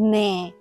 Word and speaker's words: 乜: 咩，粵語讀咩，咩姓。咁當粵語表示什麼嘅時候就讀乜，譬如平時講嘅乜嘢乜春啊，所以讀音唔同，意思都唔同嘅，要區分開啦。